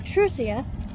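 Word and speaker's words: Truzia: You have Aaria who accompanied Vushid on the journey to Trusia which is the capital. I kind of based it off of the word truce. So, except it's spelled with a Z.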